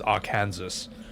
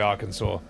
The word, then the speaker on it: Arkansas: Well, I I used to think it was our Kansas and it's actually Arkansas.